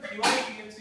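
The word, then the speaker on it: dy/dx: 자, 얘는 dy dx 이렇게 읽는데 원래는 원칙인데 dx분의 dy라고 읽어도 되고요. dy dx 끊어서 읽어도 되고요. 분수식으로 그냥 읽어주면 됩니다.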